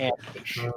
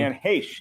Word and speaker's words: Heche: And He pronounced her last name wrong. Anne Heche is the correct pronunciation of her name. Anne Heche, it may be Sam's opinion differing from our own, is a common mispronunciation of the name.